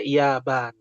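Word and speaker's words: يابان: Pas Jepang itu pelafalannya Yaban dari orang Arabnya, ya.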